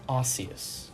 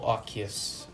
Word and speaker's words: Arceus: Well, there's a brand new Pokemon game coming out that's based in Sinnoh called Pokemon Legends Arceus. Or Arceus. It depends however you want to pronounce it.